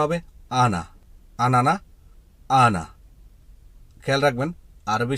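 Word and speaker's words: أنا: উচ্চারণটা হবে আনা, আনানা, আনা।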